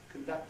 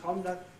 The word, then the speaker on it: conduct: The kind that has conduct and conduct, or the type that has reply for both?